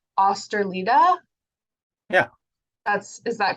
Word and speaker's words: Østerlide: I heard Inger say osterlida yeah that's is that correct yeah I said the first uh the first letter uh is the trick it's a typical Norwegian one uh which is supposed